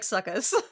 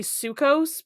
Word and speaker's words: Souchos: Yeah, but I believe it's supposed to be Sukos because like there's a thing here that's Romanized or whatever. It's S. So it's spelled SUCHUS, but the Romanized is SOUCHOS. So I'm like, okay, I think that's how you want to pronounce it then, based off of that.